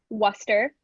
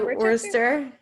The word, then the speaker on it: Worcester: I did not know that you pronounced it Worcester. So, I guess is it kind of like that sauce? Like yeah, like Worcester?